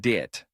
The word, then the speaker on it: debt: The B is silent, so it's pronounced debt.